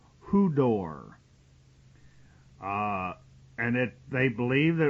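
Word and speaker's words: ὕδωρ: in the original Greek the word is Hu d o r and that's pronounced HUD door uh and it they believe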